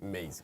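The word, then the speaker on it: Mazi: And his name, it should be pronounced Maisie. It should be Maisie Smith there. Maisie.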